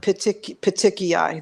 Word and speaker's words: petechiae: petechiae. Those are the ways to pronounce it if Yes.